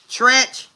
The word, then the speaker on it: Treach: Tretch. Like treacherous. Treacherous.